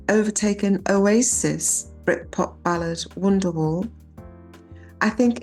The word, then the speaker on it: Britpop: Oasis's Britpop ballad Wonderwall. Oasis is Bright Pop. Yeah. Brit as in pop. Yeah. Yeah, as in Britain.